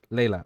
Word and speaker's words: Laelliana: sorry it's just that it's hard for me Layla Layla okay okay and then I'll call you Zacks